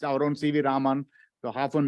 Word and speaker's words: Raman: It's our own CV Raman. So often mispronounced as Raman.